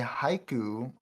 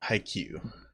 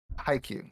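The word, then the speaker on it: Haikyu!!: yamaguchi from the anime haiku uh forgive me if i mispronounce it because honestly i don't know haikyuu haikyuu yeah there you go so yes that's the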